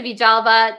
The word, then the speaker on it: Villalba: Vijalva.